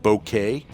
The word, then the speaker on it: bokeh: They came up with the term bokeh, and some people pronounce it bokeh. Either way is acceptable.